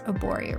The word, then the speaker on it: Arborio: Arborio rice, that's how you say it.